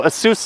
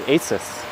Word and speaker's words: ASUS: immediately a seuss brand although asus is the correct way to say it a lot of people say asus well there's a nice